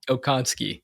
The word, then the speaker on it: Okonski: Okonski.